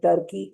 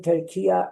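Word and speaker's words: Türkiye: In these days, saying Turkey is a wrong pronunciation. Saying Turkiya is the right pronunciation.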